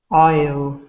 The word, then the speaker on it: isle: you know uh this this word we do not pronounce the s in it so like whistle we don't pronounce the T and this one we